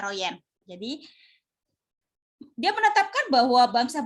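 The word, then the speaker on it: Van Roijen: Royen dan Dae Herman Van Royen ameroyal ya dibacanya Royen jadi dia menetapkan bahwa bangsa Belanda setuju kembalinya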